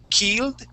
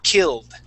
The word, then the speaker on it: killed: instead of saying key keed like the that French I we don't want to say e we want to use a short I and say k killed killed good good all right